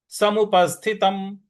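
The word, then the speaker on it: समुपस्थितम्: समुपस्थितम त के बाद जो म है उसके नीचे हलंत लगा हुआ है तो उसका उच्चारण हमें अनुपस्थ पस्थितम पस्थितम पस्थितम ठीक है म का पूरा उच्चारण नहीं करना है म को वहीं पे जाकर के रुक जाना है समुपस्थितम इस प्रकार से बोलना है तो पूरी पंक्ति क्या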